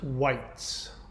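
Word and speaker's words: wight: a nature spirit uh it's pronounced white now the word white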